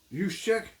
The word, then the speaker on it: Juszczyk: They cut and then signed Kyle Juszczyk. Kyle Yeah. Juszczyk. That's how you pronounce it.